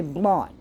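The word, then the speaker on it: blót: What happens during a sacrifice or a blot, I don't know how to pronounce it, it's B-L-O with an accent over it, T. It's called a blot.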